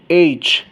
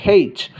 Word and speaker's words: H: এইচ American আর British অ্যাকসেন্টে এইচ বলা হয়, তবে অস্ট্রেলিয়ান যারা আছে ওরা এটাকে হেইচও বলে, হেইচ। সো তুমি যদি হেইচও বলো তাহলে কিন্তু সেই ক্ষেত্রে তোমার প্রোনাউন্সিয়েশন রং হবে না।